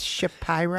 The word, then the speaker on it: Shapiro: more dougie mr shapiro he's probably like i'm it's shapiro um it's shapiro it's pronounced shapiro executive producer of the